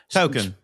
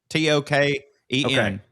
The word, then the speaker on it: Token: The black kid in South Park, his name Token. Is is what? Token. T O K E N. Token. I always I knew I knew that it it was token and that was the joke.